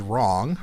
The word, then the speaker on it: wrong: Nothing is wrong. Wrong has that R sound, but it's actually WR making the sound, then ONG.